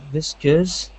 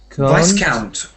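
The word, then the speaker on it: viscount: anyway try and read it please okay uh visus uh Vis Vice count Vice count is a kind of Baron Vice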